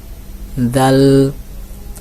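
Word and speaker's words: ذال: জাল হরফে চলে যাই জাল একটা নরম হরফ নরম হরফটা কিভাবে উচ্চারণ করবেন উপরের দুইটা আগার সঙ্গে আপনার জিহ্বার আগাটা লাগান লাগিয়ে বলেন জাল জাল যারা পেরেছেন অবশ্যই কমেন্টে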